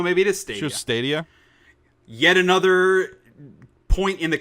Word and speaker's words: Stadia: Google Stadia. Stadia. Perfect description. I think it's Stadia because it's the of stadium. Stadia. Oh no, maybe it is Stadia. Sure, Stadia.